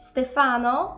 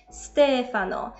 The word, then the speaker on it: Stefano: podejrzana to Słuchajcie dalej najczęstszy błąd dotyczy właśnie tych imion No i zamiast mówić Stefano powinniśmy mówić Stefano ten Akcent nad a dopiero pojawi się w żeńskiej